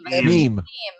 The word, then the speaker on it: meme: Is it mem? Mime? How do you say it? Meme.